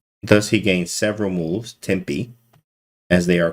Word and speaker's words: tempi: is good for because a lot of people say tempos which is still the same thing you know when i found out tempe right oh that's how you say it oh oh you see